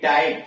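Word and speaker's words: type: जैसे टी वाई पी ई, इसमें वाई बीच में आया हुआ, उसके बाद ई पी व्यंजन से जुड़ा हुआ है, यानी टाइप टी वाई पी ई में वाई बीच में आया, उसके बाद व्यंजन आया, फिर ई जुड़ा, इसलिए आई इसका उच्चारण आई हो गया, टाइप।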